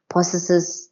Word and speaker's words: possess: Expel the householder possesses the house. So possess the house. Possesses the house. Expel the householder. Possesses the house. No. Possess is possess. Possess. Possess. What's the zed sound?